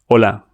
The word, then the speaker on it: hola: H silent always. No sound. Say this with me. Hola.